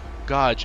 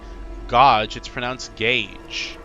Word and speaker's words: Gauge: G-A-U, Gaw. You know, Gaw. Gauge. Gauge? Where do you see age written? It's not written. It's not like. What is bro saying? That's not how you say it.